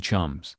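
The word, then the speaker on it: Cholmondeley: rockovich Marquis of coland because the Brits enjoy irritating the rest of the world that word is pronounced Chum two the falling out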